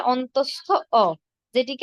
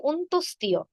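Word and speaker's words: অন্তঃস্থ: প্রথমে রয়েছে অন্তস্থ যেটিকে আমরা অনেক সময় বলি অন্তস্থিয় অনেকেই বলি অন্তস্থিয় আসলে এটি অন্তস্থিয় নয় এর সঠিক উচ্চারণ হবে অন্তস্থ দেখুন আপনাদের চ্যাট বক্সে আমি দিয়েছি দেখতে পাচ্ছেন কিনা এর উচ্চারণ হবে অন্তস্থ অন্তস্থিও হবে না এটি হবে অন্তস্থ অ এরপর রয়েছে খন্ডত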